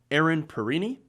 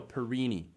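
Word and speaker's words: Perrine: kind of funny because i read her name and the way that it's spelled i originally thought it was aaron perrin i don't know that's kind of an interesting tidbit there like aaron parent oh no perini it's gotta look all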